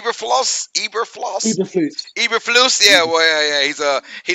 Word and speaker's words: Eberflus: Hey, your boy was Yeah, how you pronounce his name? Eberfloss. Eberflus.